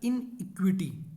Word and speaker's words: iniquity: एक तो होता है इन इक्विटी। इन इक्विटी मतलब बराबरी नहीं है, इक्वल नहीं है। एक होता है इनइक्विटी, दोनों का प्रोनाउंसिएशन सेम है, केवल इसमें ई है